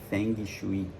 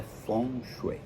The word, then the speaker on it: Feng Shui: de falar dos animais a pronúncia certa é four muita gente fala Feng Shui mas é funcho Mas você quer falar